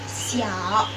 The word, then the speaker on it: xiao: Untuk X itu dibacanya S seperti biasa kayak susu, siomay. Di sini contohnya ada xiao, artinya kecil.